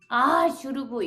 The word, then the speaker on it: should've: should've 이렇게 돼요. should have를 빨리 발음하면 should've가 되거든요.